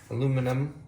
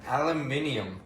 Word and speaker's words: aluminium: Aluminum. Can't say it like you did. Aluminium.